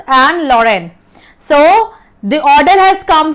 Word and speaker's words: Lorraine: Pronounce this thing properly. It is Alsace and Lorraine.